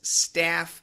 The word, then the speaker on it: staff: Staff has a short A sound. Stuff has a short U sound.